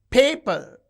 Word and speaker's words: paper: Paper. You can see the first syllable is stressed.